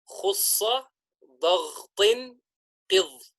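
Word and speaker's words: خُصَّ ضَغْطٍ قِظْ: The acronym is pronounced as follows: khussa daghtin qidh.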